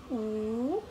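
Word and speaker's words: 五: U. U. So, silent W siya, mga beshi. So, ang binibigas lang is yung letter U or yung letter U.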